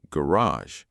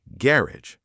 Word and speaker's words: garage: Americans say garage. British say garage.